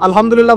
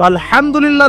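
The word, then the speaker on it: الحمد لله: আলহামদুলিল্লাহ ভালো আছে। তো আলহামদুলিল্লাহ না বলে সে বলেছে আলহামদুলিল্লাহ। তো যে হায়ের উচ্চারণ পরিবর্তন হয়ে গেছে, এই কারণে অর্থ পরিবর্তন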